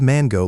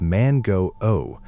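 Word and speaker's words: マンゴー: The correct Japanese word for mango is mango, mango. Notice that little bar over the O, that signifies a long vowel sound. So, instead of mango like you'd say it in English, you need to articulate it as man go O, consciously drawing out that final O sound.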